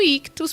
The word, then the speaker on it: Ichthus: Lembrando que Ictus se escreve ICHTHUS.